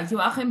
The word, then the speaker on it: Joachim: Well, because you sent me, you said that Joachim, is that how you pronounce his name? Yeah, Joachim Hagopian.